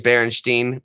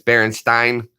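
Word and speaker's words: Berenstain: I did admit that I thought it was Berenstein but it's baron Stein that's a pronunciation thing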